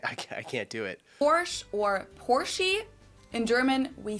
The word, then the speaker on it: Porsche: I've heard Americans pronounce it Porsche or Porsche. Porsche. In German, we say Porsche. So, there's like this short a sound in the end.